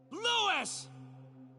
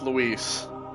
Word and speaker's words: Luis: anymore dumb idiot like Lewis is spelled l-e-w -e-s right or or is w-e-l-e-w-i-s like clearly it's Luis oh God my the